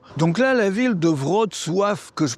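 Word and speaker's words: Wrocław: Donc là la ville de Vrod Sof que je prononce pas forcément bien, enfin je prononce pas forcément bien le nom, Vratislavie son ancien nom, Brestlao en allemand.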